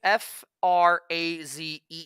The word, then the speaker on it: Frazee: FRAZEE 69.